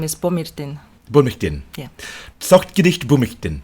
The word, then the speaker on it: Цогтгэрэл: that a lot, since it is complicated to pronounce. So my full name is Tsogtgerel. Say it again, but slowly, like this is your first name only, right? It's just my first name only. Tsogtgerel.